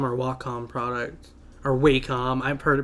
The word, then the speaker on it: Wacom: The idea for any Wacom or Wacom product. Or Wacom. I've heard it pronounced Wacom.